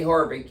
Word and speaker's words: Haavik: Heidi Horvik, you spell her last name Haavik, but it's pronounced Horvik.